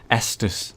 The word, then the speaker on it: Estus: sort of checkpoint system oh my God an exus flash Shard oh yes we've got four ECT FL now Estus sorry I really need to pronounce that better